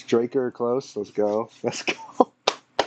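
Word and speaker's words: Drakkar: Like Draker or Darker? No, it's Draker.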